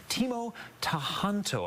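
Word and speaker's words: Timo Tjahjanto: And Bob actually does a pretty good job delivering that along with director Teemo Tahanto, I believe, is how we pronounce that name.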